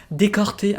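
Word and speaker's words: Decorté: Décorté, I'm going to say it like as if it is a French one, but it's not, it's a Japanese one.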